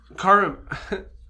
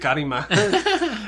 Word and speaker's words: Kurama: Kurama Kurama has a Kurama. I almost Rose pronounced it Karima.